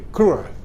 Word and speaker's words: cruel: Bacanya nggak boleh cruel, nggak boleh, tapi cruel ya.